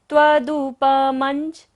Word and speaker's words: त्वदुपमञ्च: नान्यासु तन् त्वदुपमञ्च। म के ऊपर बिंदी और बाद में क्या है? ज। तो बिंदी का उच्चारण कैसे होगा? मंजन की तरह।